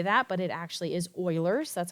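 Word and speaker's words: Euler: You're like that's not how you say that but it actually is Oilers. That's how you pronounce that.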